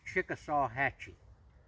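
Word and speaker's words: Chickasawhatchee: over in Albany Georgia the way I pronounce it as Chickasaw Hatchy and at that time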